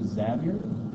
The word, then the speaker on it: Xavier: in you know St X as sometimes people mispronounce it St Francis Xavier it's actually zavier brother Kelly made that really really aware to